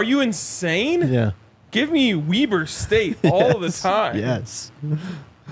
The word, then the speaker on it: Weber: actually who was at uh Michigan it is pronounced Weber State home of Damen Lillard really yes damn